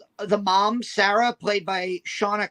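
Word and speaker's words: Seána: mom Sarah played by Shawna cursely I I think that's how you pronounce her name I did watch a YouTube Interview with her and the director and I heard her pronounced as Shauna yes she is Irish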